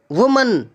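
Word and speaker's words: women: Gentleman, milkman, postman, watchman, वुमन, और इसको pronunciation भी चेंज हो जाता है वुमन का। देखिए, सिंगुलर है तो वुमन और प्लूरल है तो विमन, वुमन, विमन, ये याद रखना आप।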